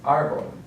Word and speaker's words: árbol: And then the next one is árbol or tree. So we have the accent mark on the first syllable, so that's what we're going to emphasize, árbol.